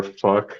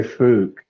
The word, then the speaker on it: Phuc: Fuck. no, I mean, how would they pronounce it? Oh, they would say Fook. Oh, okay. Like there's two O's there or something.